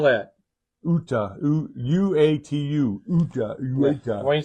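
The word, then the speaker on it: Uatu: In Marvel, how do you spell that? Uta, U-A-T-U, Uta, Uta.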